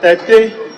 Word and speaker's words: Tete: Is it Tete or Teti? What's the pronunciation? Tete. Tete? Yes.